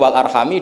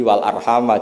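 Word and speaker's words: وَالْأَرْحَامَ: Tapi jumhur tentu lebih keren karena jumhur ngikuti qiraah masyhurah wattaqullahalladzi tasaaluna bihi wal arhama. Jadi jumhur memang bacanya wal arhama diatafkan ke Allah, bukan diatafkan ke bihi.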